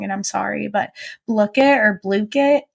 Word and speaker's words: Blooket: My classes thrive off of a website called I'm going to say it wrong and I'm sorry, but Blookit or Blookit.